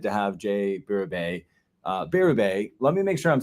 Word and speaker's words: Berube: say your last name yeah so you're saying it wrong but I usually just tell people they're saying it right no matter what they say because uh not many people get it right it's difficult it's okay yeah got